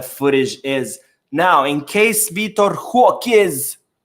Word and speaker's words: Vitor Roque: Barcelona has filed officially the appeal for Vitor Roque, as apparently that's how it's said, pronounced in Portuguese.